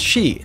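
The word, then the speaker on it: 四: to be aware of the number four is pronounced shi this is the same as the word for death and is considered very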